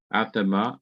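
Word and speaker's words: אֲדָמָה: is a a d athema same thing for this in modern hebrew it's a d but in biblical hebrew it's a th atama earth land ground okay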